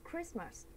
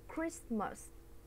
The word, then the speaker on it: Christmas: Thì tiếp là mình có cụm là at Christmas. Mình sẽ đọc cái này là Christmas. Chứ mình không đọc là Christmas nha.